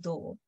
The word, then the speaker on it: tubo: Yeah, so we don't differentiate these two anyhow. They're pronounced exactly the same. That's the idea of the whole thing, that they are spelled differently, they mean different things, but they're pronounced the same.